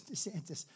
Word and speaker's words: DeSantis: sanus his name is DeSantis but they had him on a program ladies and gentlemen with proud to have the governor of Florida Mr Ron DeSantis they said no no no it's DeSantis that's good branding right